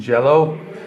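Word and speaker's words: Jellÿ: it's still green and jello i think like the y with the two dots over it is pronounced like an o or i don't know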